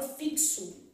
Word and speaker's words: fixo: som de z e posso ter um X com valor de KS que nesse caso aqui vai ser o que aparece por exemplo a palavra fixo aí vai ser um